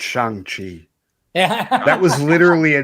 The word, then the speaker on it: Shang-Chi: It's Shang-Chi. Yeah. That was literally a joke throughout the movie. He was correcting everybody. It's Shang-Chi.